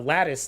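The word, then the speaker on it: Lattice: the the the uh Lattis thing, right? Instead of Latice was like, "Oh, it's Lattis."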